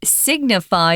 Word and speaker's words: signify: sign is the noun signify as the verb that's very different because suddenly you've got that hard G sound Sig signify so to uh signify